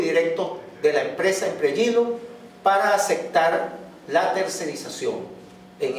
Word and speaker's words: Impregilo: Se escribe Impregilo, pero se dice Impregilo. Es italiano.